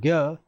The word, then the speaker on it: ज्ञ: रहित और र, और ज्ञ ज्ञ बोलते हैं इसको, उच्चारण जय होता है, लिखते गया है, ठीक है।